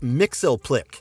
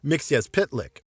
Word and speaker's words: Mxyzptlk: look at the earliest adaptations mix's name is pronounced Mixel Plick in Superman the animated series even Superman initially uses this pronunciation but Mixie corrects it and it's pronounced mix as pitlick what does Mr mixia pit Leck look like